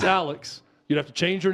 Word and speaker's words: Alex: up every time I hear him say it's Alec no it's not it's Alex you'd have to change your name legally to